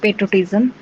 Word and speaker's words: patriotism: Pronunciation tip: the first sound like the word pay, not pat. So it like this: patriotism, patriotism, patriotism.